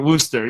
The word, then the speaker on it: Worcester: It sounds like rooster, but Worcester, you know?